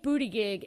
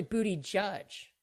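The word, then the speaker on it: Buttigieg: might be missing something if you think booty gig is gonna it's actually booty judge ben mnemonic for how to say his name i never get it right was it should be booty judge if you think he's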